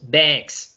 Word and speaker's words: bags: Es importante que este baggage y bags, la pronunciación no la hagamos como una A en español. La A en español es una A abierta, pero en inglés es una A cerrada. Entonces es como, la hacemos así como una AE pegada. Entonces decimos baggage o decimos bags, ¿cierto?